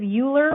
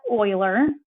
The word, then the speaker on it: Euler: about this compounding interest thing later okay leonard euler i know it looks like it says euler but you pronounce that euler um he did the most significant work with this number around 1750.